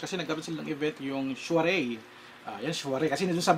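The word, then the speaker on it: soirée: Ito naman, Shuaray pala ang basa doon. Ang pronunciation. Shuaray.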